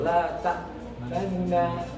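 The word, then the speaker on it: لا تأمنّا: La ta'manna. Seperti itu. Jadi membaca domah tapi tidak jelas domahnya sepertiga. La yasma'ul qaribu wa la yasma'ul ba'id.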